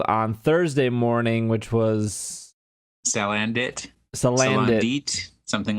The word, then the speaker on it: Salandit: That was revealed on Thursday morning, which was Salandit, something like that. I think it's supposed to be like Salamander and Bandit. Oh, so Salandit.